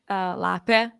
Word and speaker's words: Lape: my name is uh lap um I'm Lithuanian originally so that's that's how my names name is pronounced um I am a